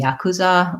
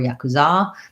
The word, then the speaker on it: yakuza: following american conventions there yakuza which would have second syllable stress but perhaps because it comes from another language it could be yakuza or yakuza they could have a different vowel sounds different syllable stress pattern on that for medipack um